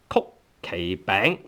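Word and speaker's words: 曲奇餅: So it's a kind of bang, which is called 曲奇餅.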